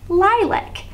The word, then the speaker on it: lilac: to the end zone so this is lie and this syllable is it lake or lack this one has a guardian consonant which keeps the vowel short so this one is black and my word is ly lac lilac a lilac is a